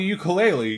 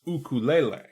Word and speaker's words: ukulele: fact number three if you call it a ukulele you're technically pronouncing it wrong ukulele is actually meant to be pronounced ukulele which is native hawaiian for jumping flea i